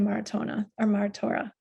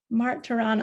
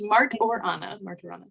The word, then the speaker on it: Martorana: So thank you, Maratora. Now I said it wrong. I even practiced it. Martorana. It's okay. It's not you. It's everybody. It's Martorana. I appreciate.